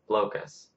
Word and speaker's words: Blokus: Today I'll be reviewing Blokus, or some pronounce it Blokus.